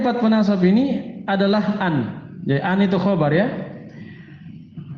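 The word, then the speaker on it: أَنْ: Yang pertama dari 4 penasab ini adalah an. Jadi an itu khobar ya. Fi mahali raf'in. An cara bacanya bagaimana? Bi fathil hamzati wa sukunin nun. Dengan cara di fathah hamzanya dan disukun nunnya. Ini cara bacanya.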